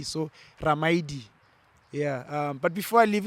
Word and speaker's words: Ramaili: So Li, you pronounce it D. So Ramaidi.